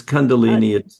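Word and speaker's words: Kundalini: that, you mentioned, let me see if I'm pronouncing this correctly. Condolini. Is that correct? Yeah, it's condundolini.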